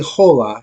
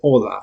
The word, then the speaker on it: hola: now you don't say hola you say hola so the H is silent okay so make that